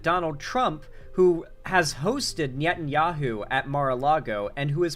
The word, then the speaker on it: Netanyahu: And he is personal friends, or Netanyahu is how it's pronounced, my bad.